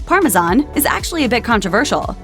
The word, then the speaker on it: Parmesan: The correct pronunciation, Parmesan, is actually a bit controversial. It's the French name for an Italian cheese, so it should carry the French pronunciation.